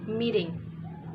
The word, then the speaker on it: meeting: in here the word is meeting become a t voiced so it sounds like d meeting okay uh next is